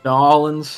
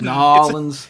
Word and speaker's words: New Orleans: From New Orleans pronounces, like, everyone pronounces the name of that city differently. New Orleans. Because if you're from there, it's like just kind of a noise. You drop all consonants, basically. It's New Orleans.